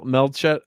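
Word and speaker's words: Melchett: Fry of course is in it is meel melet is how you say Name Lord melett yes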